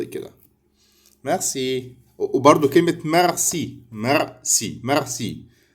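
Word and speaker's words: merci: فينتر فينتر رول نعرف ان حرف الار بالفرنسيه بيتنطق كده ميغسي وبرض كلمه مغسي مرسي ميرسي ميرسي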